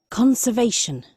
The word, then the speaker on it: conservation: Entonces, ese apóstrofe, entre comillas apóstrofe, va antes de la sílaba que se debe acentuar, ¿cierto? Entonces aquí le dice a usted, la sílaba que sigue es donde va el stress.